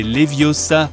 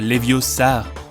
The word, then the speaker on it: Leviosa: parfois besoin d'aide e Siri c'est Leviosa pas leviosar appli de mesure transporter